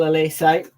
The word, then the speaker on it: Olise: I know exactly how to pronounce his name. Michael Olise.